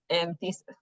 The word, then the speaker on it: anthesis: You need the earliest "anthesis?" I don't think that's how you pronounce that. : An-thee-sis.